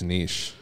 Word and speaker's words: niche: The debate about how you are supposed to pronounce niche, there are two common pronunciation variants, both of which are currently considered, they're both fucking right. Niche or there niche. So it's like tomato and tomato.